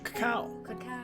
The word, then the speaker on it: cacao: it to be delicious all right so cacao right instead of the cocoa cacao beans uh that's how you say coco in spanish cacao so now you all know one word of spanish just mispronounced coco and you're saying it right in spanish so a farmer must